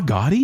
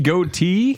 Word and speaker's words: Gotti: know how it happened because it's like Gotye goatee goatee yeah John Gotti no I